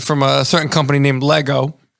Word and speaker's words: Lego: I've got some stuff I may have collected from a certain company named Lego. Yeah. Rhymes with ego.